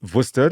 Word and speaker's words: Worcester: Johansson he's 75 from Worcester in the Western Cape well pronounced Google very well pronounced easy not like the sauce yeah so he needs